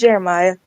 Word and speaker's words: Geremiah: Yeah, it's Geremiah. It's the way it's spelled.